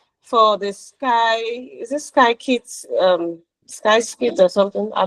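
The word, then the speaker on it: scikit-learn: The data analyst, but I received an assignment for the Sky is it sky kit? Um, Sky or something? I don't know the pronunciation. Skit learn.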